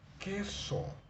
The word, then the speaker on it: queso: un sonido fuerte luego Tenemos también que pero que se escribe con q como la palabra queso ahora vemos que eso